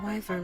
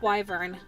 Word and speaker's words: wyvern: I learned how to ride my wyvern when I was 5. Fuck. Hold on. How to pronounce wyvern?